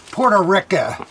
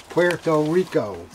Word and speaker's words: Puerto Rico: jersey here in philadelphia mispronouncing the name puerto rica it's not that's what we've always heard puerto rica it's not puerto rica it's puerto rico a very nice place